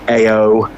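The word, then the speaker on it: Éowyn: I said, think Freddie Mercury, Eowyn. I thought you'd gone and think more Teletubbies.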